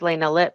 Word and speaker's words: Elena Lip: from elena lip and i'm sorry if i mispronounced your name um but you are unmuted please submit yourself and state your affiliation and ask your question hi yeah my name is elena lip he said it right i'm affiliated with the